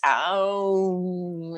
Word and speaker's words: Aum: And the true way you pronounce it in Sanskrit is even longer than Om. It's Aum. It's got Yeah. 3 syllables.